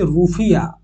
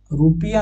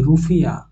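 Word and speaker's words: rufiyaa: উচ্চারণ হচ্ছে মালদ্বীপ মালদ্বীপের কারেন্সি হচ্ছে রুফিয়া রুপিয়া নয় রুফিয়া ঠিক আছে রাষ্ট্রপতি হচ্ছে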